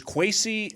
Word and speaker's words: Kwesi: It's sometimes spelled with an A in Ghanaian culture. Really? So the E, I could see that throwing people off a little bit. Okay, well, is Kwesi, and there's a reason